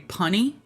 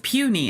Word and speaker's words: puny: Pony. It's puny. It's supposed to be puny. Like you puny little wimp.